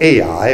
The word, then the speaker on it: Ai: the goods and so in chapter seven they come up to another city called ai or i depending on how you pronounce it and they think this